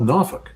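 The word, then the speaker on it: Norfolk: The city that's next to me is it's called Nofuk. Everybody calls it Nofuk. But it's spelled no folk like F O L K.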